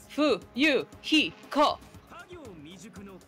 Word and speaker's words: Fuyuhiko: My first name is pronounced Fu-Yu-Hi-Ko. I'm still an inexperienced member of my family's business.